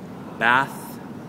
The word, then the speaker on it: bath: going to talk about the difference between bath and bus. Okay? Bath, perhaps ofuro, and bus, a method of transportation. So, what's the difference in the pronunciation between bath and bus? Okay, well, there are 2 main points we want to focus on. So number 1, of course, is the vowel sound.